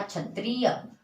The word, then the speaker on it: क्षत्रिय: हम स्टार्ट करते हैं, जैसे हमने लिखा क्षत्रिय तो हम इसको छ बोलेंगे। लेकिन अगर हम लिख रहे हैं कक्षा तो आवाज आएगी अ और क, कक्षा। देखिए तब इसका प्रोनाउंसिएशन अलग हो रहा है, उच्चारण। यहाँ पे हमने इसको पढ़ा क्षत्रिय और यहाँ पे हम इसको पढ़ रहे हैं कक्षा। कक्षा यानी क की भी आवाज आ रही है और